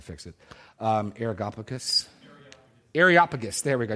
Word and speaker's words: Areopagus: it um arus arop areopagus there we go I knew there's an extra syllable that I was missing areopagus Jake sorry my